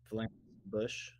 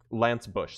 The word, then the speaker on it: Lance Bush: Lance Bush. Lance Bush. So Lance like the... How you spell it? So it's Lance like the medieval Okay. stabby thing, and then Bush like the president.